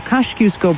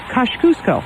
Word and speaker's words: Kosciuszko: Well, they say that's the Polish pronunciation, Kosciuszko.